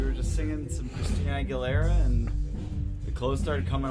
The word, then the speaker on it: Aguilera: Hey, I can get down to I can get down to Christina Aguilera though. I butchered her name wrong. Aguilera.